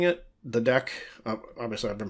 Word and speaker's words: deque: uh two different ways of saying it the deck obviously I've been pronouncing it deck it's not pronounced a DQ or dequay or something like that so has both q-